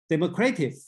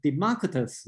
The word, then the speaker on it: Democritus: I believe this way uh Democratic okay instead you should pronounced as a Democritus or democratic Democritus is the traditional okay I see somebody